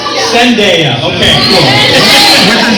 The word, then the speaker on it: Zendaya: Let's just say Messi and Sadea are in the grocery store. Can I say the name wrong? Zendaya.